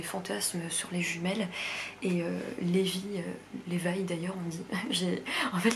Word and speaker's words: Levi: coup dans ma tête je prononçais Levi et là en fait la dame de l'audiobook elle dit Levi, ce qui est la bonne prononciation mais je n'arrive pas à le prononcer.